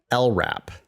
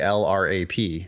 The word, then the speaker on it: LRAP: which is uh abbreviated lrap okay now I think that lrap is an acronym even though that's not a word we pronounce it as if it's a word we don't say l-r-a-p we say lrap so